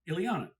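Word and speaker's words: Illeana: Then you have Melvyn Douglas, who you might not know his work, but you certainly know his granddaughter, Ileana. Ileana Douglas, right? That's how you pronounce it.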